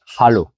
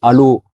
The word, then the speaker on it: Hallo: En allemand on a l'habitude de dire hallo. Alors faut bien que tu comprennes que le H il se prononce en allemand en suissallemand aussi et il est très important. Si tu dis allô tu peux tomber sur quelqu'un qui te comprend pas. Donc c'est pas difficile mais il faut essayer de bien le prononcer.